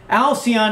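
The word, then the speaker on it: Alcyone: his universe from a ow pian alc y o ne a star system and the Pleiades alcian thank you Alcee on a star system in the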